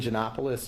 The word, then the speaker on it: Janopoulos: It's Janopoulos. Janopoulos is spelled Janop as in Paul, Oulos.